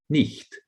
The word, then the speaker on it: knight: generalize but yet gerald in old english knight was pronounced nicht the k sound is dropped and you just have the n and the t as consonants so this is deletion